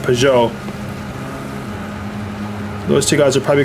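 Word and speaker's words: Peugeot: next win yeah I've been pronouncing it pajo but that's probably incorrect though uh P I think somebody mentioned that it's pronounced Pou those two guys are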